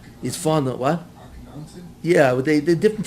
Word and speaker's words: Akhenaten: Because later on I read that he restored all the Avodah Zarah that his father-in-law, I think Akhenaten, his father, what? Akhenaten? Yeah, but they're different pronunciations of the name.